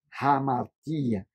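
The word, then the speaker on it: ἁμαρτία: martia tá e note como é que pronuncia pecado hamartia Porque tem uma aspiração eh forte aí logo em cima do alfa e daí vem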